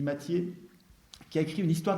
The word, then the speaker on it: Mathiez: Il y a un gars qui s'appelle Mathiez, ça s'écrit Mathiez, ça se dit Mathiez, qui a écrit une histoire de la Révolution française, et Guillemin se sert beaucoup des travaux de Mathiez.